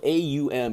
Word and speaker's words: Aum: The Aum vibration, the Om, you guys hear this all the time, the Om, the Amen, it's spelled A-U-M, it's not O-M, you know, it's kind of pronounced, it's Aum, the Om vibration.